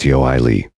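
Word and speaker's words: Ioele: dead under the name of iol pronounced yoii Frank Franchesco universally called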